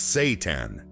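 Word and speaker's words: seitan: Satan, pronounced Satan, is made from wheat gluten.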